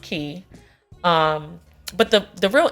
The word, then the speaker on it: Quay: called key it doesn't you wouldn't gather that from the way that it's spelled but cuz I was just like Quay what I said but it's pronounced key um but the the